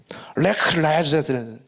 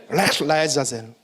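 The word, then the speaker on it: לך לעזאזל: 레크 라야자젤 이란 욕이에요. 레크 라야자젤. 원래 히브리 발음이 가래 끄는 발음이에요.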